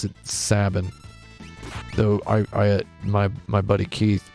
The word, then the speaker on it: Sabin: do I pronounce saben I pronounce it like cabin yeah it was weird